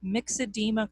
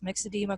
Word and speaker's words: myxedema: There's something called myxedema coma. So this is spelled M-Y-X-E-D-E-M-A, myxedema coma.